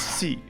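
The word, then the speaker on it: sí: yes in spanish is c you've probably heard this before but it's worth repeating it's pronounced like the word see like a body of water the word in spanish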